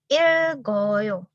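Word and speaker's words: 읽어요: Rielnya di bawah dibaca sebagai L dan gioknya tetap dibaca G. Maka ini cara bacanya jadi ilgoyo.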